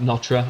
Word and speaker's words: Notre: notre dame and but by the french it's not pronounced nota it's pronounced something like notre or notre or you